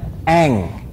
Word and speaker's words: Aang: salah kali ini nasahnya oh cara bacanya Eng P itu kan film avatarak Aang Anjir yang selama ini